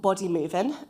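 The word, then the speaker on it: Bodymovin: Um, and then I'll export that using uh a tool called body movein. Um, the G is silent.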